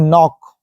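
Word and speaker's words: knock: तो चलिए देखते हैं नॉक देखो लास्ट में भी आया है सी के आया है ये जो दिख रहा है आपको ये जो है साइलेंट वर्ड है मैं आगे मैं आपको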